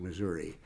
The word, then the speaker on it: Missouri: So far be it from me to belittle the emphasis on or the discussion about Missouri versus Missouri.